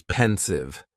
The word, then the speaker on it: pensive: Next is pensive. And the pronunciation is very easy. Just two syllables and the stress is on that first syllable.